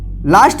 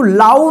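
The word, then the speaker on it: low: चलिए यहां पे देखिए एल ओ डब्ल्यू, इसको क्या पढ़ेंगे, लो। इसको लाउ नहीं पढ़ेंगे, क्या पढ़ेंगे, लो।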